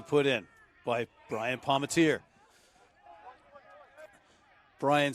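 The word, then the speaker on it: Bryan: Brian spelled B-R-Y-A-N, and he said to me, but it's pronounced the same.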